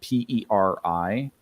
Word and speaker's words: Peri: So there, it's spelled Peri, which sounds a lot like fairy.